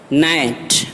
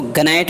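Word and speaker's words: gnat: نقشہ۔ رین دور حکومت۔ نائٹ چھوٹی مکھی، اس کو گنائٹ نہیں پڑھیں گے چونکہ ان سے پہلے جی آیا ہے لہٰذا یہ جی خاموش رہے گا، نائٹ چھوٹی مکھی۔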